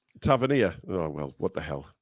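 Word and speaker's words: Tavernier: bloody hell who cares it's hard to say his name because I say Tavia but apparently it's Taver tavanir oh well what the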